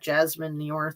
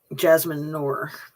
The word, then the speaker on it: Jasmine Noor: let's see what that Jasmine Nior thing was. Jasmine Noor. I told you, I have this habit of putting extra syllables into things where they don't belong.